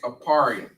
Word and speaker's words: Ephraim: And you pronounce their name in the Hebrew as Aparim.